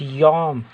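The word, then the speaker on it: יום: the study notes like yam hebrew pronunciation it's yom csb translation day for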